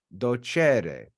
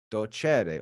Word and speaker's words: docere: Latin so the the that e is accented so all of the Roman Latin speakers would know it's a second conjugation verb because of how it's said so they wouldn't need